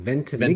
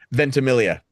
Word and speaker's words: Ventimiglia: So having Milo, and I always say his name wrong, Ventimiglia. Ventimiglia. Yeah. Say it. Ventimiglia.